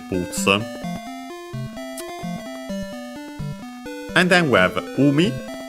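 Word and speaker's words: 海: and then we have umi. C should be accent on the first syllable, but we'll check.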